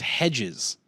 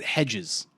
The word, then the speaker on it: Hegyes: It's pronounced Hedges. What? Hegyes. He pronounces it Hedges.